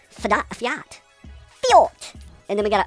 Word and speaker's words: Fiat: I mean, I know how to say Fiat and spell it. F-I-A-T. Fiat.